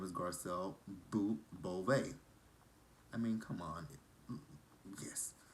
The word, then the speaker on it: Beauvais: People say her name is Bouvet, but it's Beauvais because she corrected Andy last